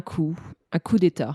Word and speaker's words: coup d'état: And like in France, it's common to not pronounce some certain letters. In English, it's a bit less common. Yes. Yeah. No, I was just curious because, like... No, it's un coup d'état. It's not coup. Coup d'état.